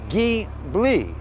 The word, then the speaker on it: Ghibli: here this is a 2014 maserati ghibli ghee bli ghibli at least that's how doug demiro on youtube says it so i'm gonna go with the way he says it maserati ghibli so let's